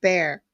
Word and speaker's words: Bexar: This is Texas in Bear County, which is actually Bexar, but they pronounce it Bear.